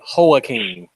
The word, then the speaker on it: Joaquin: All right, Lambo, he says it's pronounced Joaquin. Okay. Joaquin.